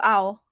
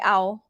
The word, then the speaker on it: เอา: for you stick to ow yeah you can just go back and say ow that's my tone easy it's actually a and then ooh at the end like your mouth is rounded even though it's ao